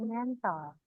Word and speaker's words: Mäntel: Contohnya der Mantel jadi die Mäntel. Der Mantel itu mantel. Jadi die Mäntel. Jadi bacanya bukan mantel tapi mäntel.